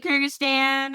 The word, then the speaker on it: Kyrgyzstan: Kyrgyzstan. Okay, thank you. Sorry, Kyrgyzstan.